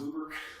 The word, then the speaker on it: Buber: It's written Buber, and I prefer pronouncing it Buber, but it's actually pronounced Buber.